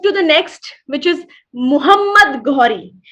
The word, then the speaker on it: Muhammad: Now let's move to the next, which is Muhammad Ghori. We have to understand the pronunciation very, very carefully. The earlier one was Mahmud, and this is Muhammad. This is Muhammad Ghori.